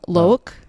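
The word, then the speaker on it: Loïck: Loke is his... Is it like spelled like Locke, but Loke? Loick.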